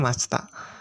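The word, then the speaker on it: ました: bahasa Jepang bentuk lantainya Tinggal ubah akhiran Mas menjadi Masita atau dibacanya Masta untuk membuat bentuk la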